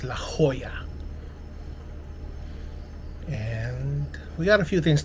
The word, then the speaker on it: La Jolla: day two here at I finally got the pronunciation of the place it's La Jolla spelled La space j-o-l-l-a but it's pronounced La Jolla we got a few things to talk about